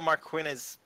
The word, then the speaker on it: Marquinez: Police went to Marquinez, that's how you say her name, Marquinez's house, October 28th,